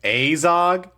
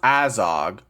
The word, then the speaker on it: Azog: Azog? It's pronounced Azog.